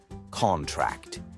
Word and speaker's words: contract: their part of speech if the emphasis is on the first syllable it's a noun EG contract as in sign this